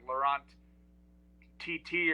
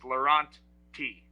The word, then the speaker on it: Lorawnt-T: So I've got two T's at the end of my name, but it's not like Lorawnt-T or whatever. It's just Lorawnt-T. Got it. We say quickly Lorawnt-T.